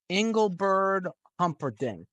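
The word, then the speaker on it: Engelbert Humperdinck: of the record why don't we go with Engle bird Humper D is that how you say his name yeah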